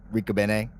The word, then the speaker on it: Ricobene: Yes, and that is the correct pronunciation, right? We confirmed that now. Ricobene. Yeah, no, exactly how you said it.